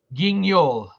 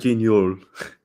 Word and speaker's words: Guignol: So it's a French word.